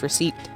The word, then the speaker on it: receipt: is how it's pronounced receipt we just barely barely pronounce the p and most of the